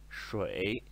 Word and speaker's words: 水: E a pronúncia dele é shui no terceiro tom, ok?